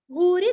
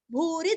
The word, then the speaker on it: भूरि: न और द्रो कपीन्द्रो भूरि दक्षिणः भू दीर्घ री रस्व क्षीरस्व भूरि दक्षिणः भूरि दक्षिणः।